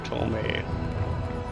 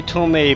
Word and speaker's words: tome: Tome or Tome? I've heard it as both, so... I say Tome, but I think usually it's pronounced Tome, so...